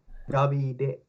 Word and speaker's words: Davide: Davide. Davide. Like David, but with an E Yeah, at the end.